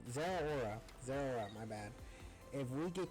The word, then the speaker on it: Zeraora: So, if we get killed by the Zoroark, I keep saying Zoroark, or mispronouncing his name. Zeraora, my bad.